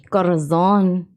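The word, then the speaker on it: corazón: Corazon. You gotta roll your R's. Corazon.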